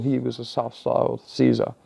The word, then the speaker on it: Caesar: was a self styled Caesar or Kaiser as it should be corre correctly pronounced so is Hitler um